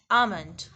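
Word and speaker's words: almond: जो है वो अक्सर लोग बोलते हैं वो एल बोल देते हैं, जबकि एल is silent here. The real pronunciation is आमंड, आमंड, आमंड।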